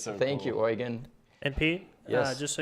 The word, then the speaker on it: Eugen: We have a question from YouTube, and I'm going to pronounce this because it's a German name. Eugen Faber.